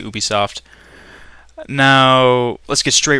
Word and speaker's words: Ubisoft: we're taking a look at Ubisoft or Ubisoft depending on how you say it I say Ubisoft now let's get straight